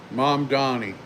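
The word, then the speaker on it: Mamdani: You have people like me, me uh Miman Donnie, mom Donnie is how his name is pronounced in New York that have said that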